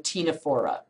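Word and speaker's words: Ctenophora: phm nideria and phm tinora notice the c is silent in both of those okay philm nidaria naido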